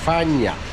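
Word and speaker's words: Phong Nha: Maintenant, direction Phang Nha. Il l'appelle ainsi car Phang s'écrit avec un h, Fan, et Nha se prononce Gna. Donc Fagnà.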